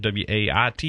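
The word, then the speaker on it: Waite: W A I T E.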